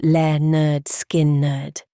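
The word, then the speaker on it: Lynyrd Skynyrd: services at Filillmore East and pronounced le nerd skin nerd and the other landmark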